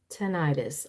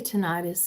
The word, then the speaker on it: tinnitus: Very similar to tinnitus. I say tinnitus, and my oldest son says no, it's really tinnitus.